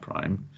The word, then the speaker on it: prime: you saw that this is going from five prime to three pi so that that little similar is pronounced prime okay and it's the direction of